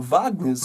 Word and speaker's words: Wagner: the yellow here and we've actually got Wagner's on the field or Wagner's if you want the correct pronunciation and those guys are